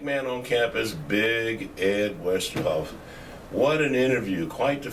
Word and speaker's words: Westerhof: Ed Westerhof.